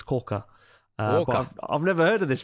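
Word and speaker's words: 甲賀: first my first two years I lived in ccka that's not that's how you pronounce it it's CA I've never heard of this this is not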